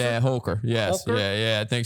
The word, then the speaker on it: Holker: Is that how you pronounce it? Yeah, Holker.